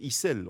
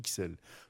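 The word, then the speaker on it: Ixelles: dit xl par contre il ya un quartier de bruxelles qu' on ne peut pas dire hissel on dit xl donc moi j'ai choisi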